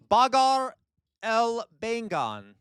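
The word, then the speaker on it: Baghare Baingan: Bagar El Bengan. Okay, Bagar El Bengan. That is a correct pronunciation, 100%. Okay, 100% correct pronunciation.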